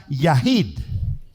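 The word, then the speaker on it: יחיד: pronuncia Okay y hay otra palabra que se pronuncia yahit yahit Entonces qué quiere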